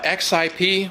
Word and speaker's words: XIP: The Double Alpha XIP, yes, that's actually how it's pronounced, Saul told me so, represents the latest